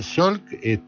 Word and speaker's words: Salk: Sí, ahora lo que yo me pongo, y yo traje el ejemplo de Salk, creo que se pronuncia Salk, ¿no?